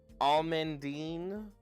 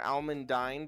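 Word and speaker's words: almandine: Um this can be almondine or almondine depending on how you want to pronounce it.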